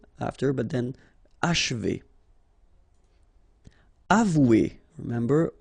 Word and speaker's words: achever: Okay, and then if you want to pronounce it the way French people will do, so don't insist too much on this and you will get H, achever, achever. It's a bit tricky, this combination of sh and v after, but then achever.